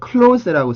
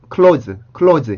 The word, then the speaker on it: close: 우리 오라는 스펠링을 그냥 우리는 오라고 쓰기 때문에 close라고 쓰죠.